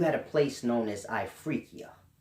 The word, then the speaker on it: Ifriqiya: a place known as ifriqiya if I'm pronouncing it right i F are I Q I Y a I free Kia and this was like